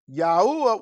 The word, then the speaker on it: Yahuwah: not known to them now i know people a lot of people say well that's not no you're not pronouncing it right no this is not pronouncing it right because it's four letters in the hebrew alphabet or the tetragrammaton which is four letters and those four letters are you hey hey and it's it's actually